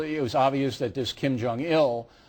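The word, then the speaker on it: Kim Jong-il: was obvious that this Kim Jong ill uh Accent on the ill used this as a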